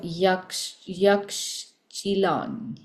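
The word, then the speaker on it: Yaxchilan: place was very cute it was uh yak yak chilon so that's spelled y a x c h i l a n and this was um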